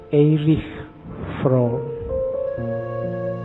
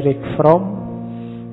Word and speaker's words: Erich: Membacanya, kalau bahasa aslinya karena lahir di Jerman, orang Jerman membacanya Erich Fromm. Tapi nanti dia saat sukses hidupnya di Amerika, orang Amerika membacanya lebih suka pakai Eric, jadi belakangnya K.